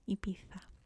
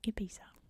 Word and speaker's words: Ibiza: have to correct me, that in Spain this is pronounced Ibiza. These are pronounced as a TH, Ibiza. But I'm trying to just stick to English pronunciations here, and in English we say Ibiza.